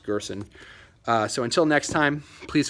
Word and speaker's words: Gerson: I believe his last name is pronounced Gerson.